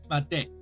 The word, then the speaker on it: まで: Is that it sounds like I'm saying day, D-A-Y, but I'm trying to say it like short day, day, made, made desu ne, made desu ne.